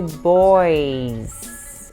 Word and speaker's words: boys: E o garotos vai ser boys. E o som de Z no final, apesar de terminar com S, tem o som de Z no final, no plural.